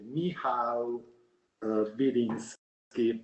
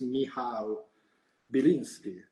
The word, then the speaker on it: Michał Biliński: Attenzione perché lui è polacco e quindi mi sono fatto dire come si pronuncia esattamente il suo nome. Si pronuncia esattamente Michał Biliński.